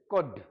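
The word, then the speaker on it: could: इसको कुल्ड नहीं बोलते हैं। कुल्ड नहीं कुड एल साइलेंट है।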